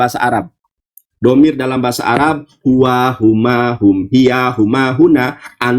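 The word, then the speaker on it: הוא: Di sini ada kata he, pap, alep. Dibacanya hu, bukan hi.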